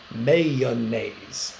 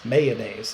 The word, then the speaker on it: mayonnaise: like I do or do you say mayonnaise mayonnaise is it two syllables or three syllables if it so if it's two syllables that's kind of the The More Southern pronunciation if it's three syllables that's maybe the more Northern pronunciation uh there's one or